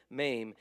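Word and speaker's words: מם: special about it lamid you got ma not me ma rhymes with name maim this is another one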